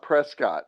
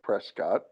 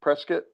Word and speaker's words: Prescott: Now, it is an intentional malapropism. So that means it's not Prescott. For some reason, it's a college town and they mispronounce it on purpose.